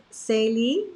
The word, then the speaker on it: Sally: Okay, so it's pronounced Sally, is that right?